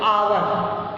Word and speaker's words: hour: यहाँ पे जैसे आवर, HOUR, इसको स्टूडेंट हावर नहीं कहते, आवर. एच क्या होता है? ये साइलेंट होता है, जिसको हम आवर कहते हैं.